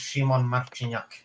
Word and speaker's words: Szymon Marciniak: His name is pronounced Szymon Marciniak.